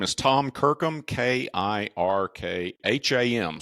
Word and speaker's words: Kirkham: name is Tom Kirkham k i r k ha M so it's spelled phonetically it's Kirkham right it's real simple and the company is